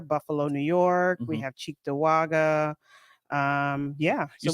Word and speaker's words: Cheektowaga: I say Cheektowaga too. I say cheek too. But there are people who say like Chicktawaga. Chicktawaga. Yeah, there's definitely people who say it like that.